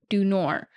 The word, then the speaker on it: du Nord: about this Camp sure Camp dord are French words pronounce dunor which means of the north which is appropriate because